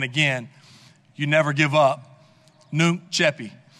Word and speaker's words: Nunc coepi: Nunc Coepi. It's spelled N-U-N-C-C-O-E-P-I. And I know I can't quite put the Latin twang on it. It's more of an Alabama twang, but it gets the job done.